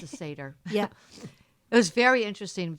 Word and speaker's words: Seder: It's a Seder.